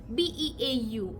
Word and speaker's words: beau: Now beau is the beginning of the word beautiful, and that's the way we spell it, B-A-E-U, B-E-A-U, beau. We spell it, okay? We just simply say beau, beau, beau.